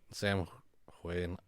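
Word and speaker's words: Samhain: yeah but um the Celtic people would celebrate Sam Wayne just say sour a couple of whites no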